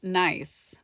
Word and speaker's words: Nice: And it's spelled nice, but they pronounce it Nice.